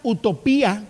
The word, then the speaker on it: Utopía: estar con nosotros Avenida utopía con acento en la y porque es pasado participio